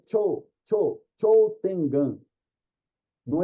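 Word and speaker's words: 頂天眼: Na realidade, quando tem esse O, U seguido, é Cho, prolonga o som, Cho Tengan. Não precisa falar o U, só prolonga o som do O, Cho Tengan, que é o Miracel ou celestial.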